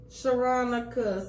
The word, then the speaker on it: Sharonica: Let me spell it for the city. It's SHERONICA. Sharonica.